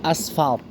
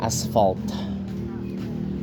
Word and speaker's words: asphalt: Jadi asli aslinya tuh aspalt. Aspalt bahasa Inggris itu cuma jadi aspal. Aslinya asphalt ya kan? Wuh di lagi di semen teman-teman ya. Nih aspalt sebenarnya aspalt dibacanya aspalt kan aspal. Tapi karena orang kita kebanyakan enggak bisa ngomong F jadinya aspal gitu.